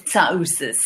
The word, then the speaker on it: Tsiaousis: Well, the Greek pronunciation is Tsiaousis. But I mean, what I thought. There's always the O is very pronounced.